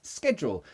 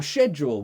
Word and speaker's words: schedule: one is it so British people say schedule Americans say schedule however we both pronounce them both no we don't British people pronounce both ways we say schedule and schedule depends on the day depends on the person depends on the mood Americans they would just say schedule I think IDI do